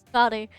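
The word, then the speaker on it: Skadi: Scotty. Scotty. That's how you say her name. It's bloody Scotty.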